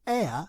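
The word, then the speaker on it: heir: the word is probably a play on air which is spelt h-e-i-r which is defined as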